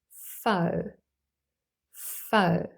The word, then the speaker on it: faux: end an X and here the x is silent for example in the adjective fo fo meaning false or fake the pronunciation is fo fo for example a coat